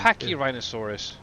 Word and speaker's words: Pachyrhinosaurus: No, for the freaking dinosaurs in the Ark, so actually pronunciate them properly. You mean Um, the Pachyrhinosaurus? You said that one wrong too. Pachyrhinosaurus.